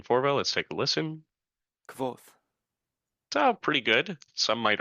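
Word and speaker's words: Kvothe: It's spelled quote off, but it's said quoth.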